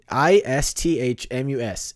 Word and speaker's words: isthmus: hard word to say it's not really Isthmus oh you messed up no I said it right no you did not you said it's not it's not if's miss look it up i-s-t-h-m-u-s Isthmus you're saying is you're